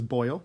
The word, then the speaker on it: Boyle: So his name is Boyle. It's not spelled the same, but there were terrible diseases in the past that if you got them, you got covered in boils.